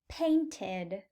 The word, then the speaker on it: painted: Since the verb ends in a T or a D, we will pronounce ed as id. Painted. Painted. Notice how adding the id ending makes an extra syllable.